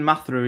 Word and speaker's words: Matharu: Uh Matu is the correct pronunciation.